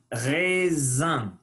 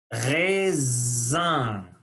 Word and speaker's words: raisin: Le raisin, c'est difficile à prononcer. Le ré, A-I, son E. Le raisin. Sain, il faut tirer les lèvres et faire sortir l'air par le nez.